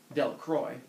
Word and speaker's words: Delacroix: Harry Jones and Dicky delacroix the villagers pronounced his name delacroix eventually made a great